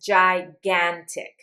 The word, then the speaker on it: gigantic: And if a G is followed by an A, an O, or a U, it's going to say G. So this word says gigantic.